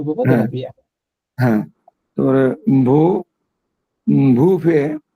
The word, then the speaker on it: vin: হ্যাঁ এটা আস্তে আস্তে কিন্তু ভা এই সাউন্ড হচ্ছে ভা ভিন্ন ভা ভা ভিন